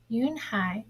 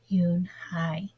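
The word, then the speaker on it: Unhei: he asked her with his eyes open wide Yoon Hai looked quickly at Mr Kim then turned to Joey she nodded slowly yes it's pronounced Yoon Hai and it means Grace Mr Kim added Yoon hi Joey said slowly and this time perfectly it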